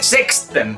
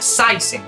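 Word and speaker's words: seksten: tenemos por ejemplo la palabra sisen no se pronuncia sexen se pronuncia saisen que significa 16 y luego tenemos esta de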